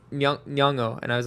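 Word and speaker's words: Nyong'o: again it's very hard I was corrected by Junior this afternoon at lunch I was like nongo and he was like uh yongo and I was like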